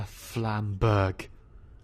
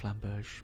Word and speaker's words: Flamberge: Also, I kind of want to buy a Flamberg. I know it's pronounced Flamberge, but...